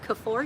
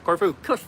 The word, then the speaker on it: Corfu: when we were in Kore. Did I say it right? Yep. Corfu. Corfu. See, I say them all wrong.